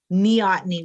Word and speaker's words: Neoteny: Neoteny. And it means the retention of immature qualities into adulthood. So, I think that's my Meoteny. Neoteny with N like Nancy.